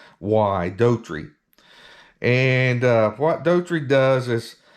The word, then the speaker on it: Doherty: So this cavalry detachment was under a Lieutenant Edward Daughtry. I'm hoping I'm pronouncing that right. It's Doherty, Daughtry.